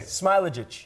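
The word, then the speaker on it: Smailagić: Smailagic.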